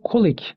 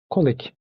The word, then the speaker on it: colleague: arkadaşın Şimdi iş arkadaşı colik diye söyleyebiliriz genelde yanlış telaffuz edilen bir kelime doğru telaffuzu colik colik iş arkadaşın Oliver bana